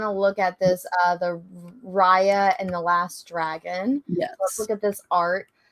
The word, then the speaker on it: Raya: I think it's Raya, not Rhea. Raya, okay. So, Gotcha. Yeah, so it's, Rye, for whatever reason, this is pronounced Rye, and then so Rye.